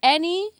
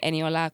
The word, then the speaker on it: Eniola: Annie. I mean, I've shortened it to any, but like I rarely hear anybody say anyola correctly.